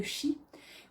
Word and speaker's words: chi: l'argent, c'est faire circuler le chi, ou le ki, ça c'est selon ceux qui ont envie de le prononcer. Moi je dis le chi.